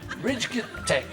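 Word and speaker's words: Ridgetec: RID. GETEC. That's how you spell it, and that's how you say it.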